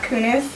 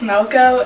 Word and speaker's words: Melko: completely butchered that i my last name is not kunis it's moco and he thought it